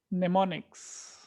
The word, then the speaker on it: mnemonics: Mnemonics. The M is silent. It's called mnemonics.